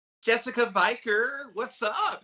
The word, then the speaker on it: Viker: Viker, it's like Yeah. rhymes with beaker.